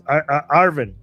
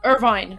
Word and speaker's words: Irvine: Uh, oh my god, the city is Arvin. Arvin Arvin, right? Did I pronounce it right? LA. Irvine. Uh, this Irvine. I always pronounce this wrong.